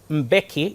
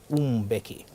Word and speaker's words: Mbeki: post-apartheid South African president Thabo Mbeki is the correct answer the pronunciation came out as beckii it's now time for